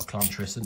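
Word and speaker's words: Llantrisant: the mint move into lantern or clan tristan if you're uh to pronounce it correctly in my uh best welsh accent so it's the 17th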